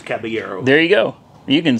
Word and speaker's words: Caballero: What is the proper pronunciation? I have had so many people tell me so many different things. Caballero? Caballero or something.